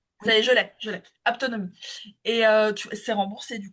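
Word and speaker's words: haptonomie: Apto s'écrit comment ? H a p Ah t o n o m i. Aptonomie. Je l'ai. Je l'ai. Aptonomie.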